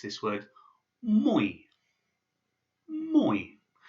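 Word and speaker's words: мой: You pronounce this word mой. Mой. Moi is a very common word that you'll come across, which means my.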